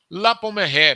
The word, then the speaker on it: La Pommeraye: Por exemplo, La Pommeraye, me permitam usar aí a pronúncia francesa.